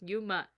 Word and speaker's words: Yuma: so I apologize for saying his name wrong it's Yuma Yuma oh I'm literally